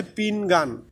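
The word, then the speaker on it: pinggan: এই পিংগাং দুটো শব্দ আছে একই রকম, একটা হচ্ছে পিংগাং আর একটা হচ্ছে পিংগান। পিংগান আর একটা হচ্ছে পিংগাং। পিংগাং হচ্ছে মাজা, কোমর, আর পিংগান হচ্ছে প্লেট। মনে রাখবেন, দুটি শব্দ এক হলেও উচ্চারণ কিন্তু ভিন্ন।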